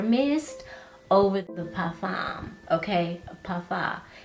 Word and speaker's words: parfum: Parfum. Y'all be getting on me and telling me M is silent in parfum, okay?